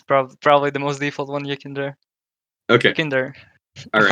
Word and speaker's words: YEKINDAR: Okay, when you said dar, you like Yeah, he has definitely- the accent on it there. Yeah. It's Russian. Yeah, the Russians usually say YEKINDAR.